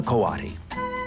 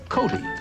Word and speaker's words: coati: This is a Coati. You might have heard him called a Coati, since his name is spelled C-O-A-T-I.